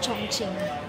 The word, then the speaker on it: Chongqing: Panalo ang Chong Ching. Hindi ko alam minsan kung ano pagtabang pronunciation eh. Chong king.